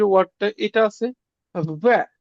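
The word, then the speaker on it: В: যে ওয়ার্ডটা এটা আছে ভ্যা এটা আমাদের ইংরেজি বির মতন দেখতে বাট এটার উচ্চারণ হবে ভ্যা মানে ভির মতন উচ্চারণ হবে ভির মতন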